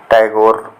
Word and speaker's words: टैगोर: कहा जाता है कि अंग्रेजी में ठाकुर का उच्चारण टैगोर हो जाने के कारण इनका नाम रवींद्रनाथ टैगोर प्रसिद्ध हुआ।